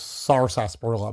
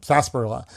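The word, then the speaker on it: sarsaparilla: Although it's pronounced sar sasparilla, but sasparilla.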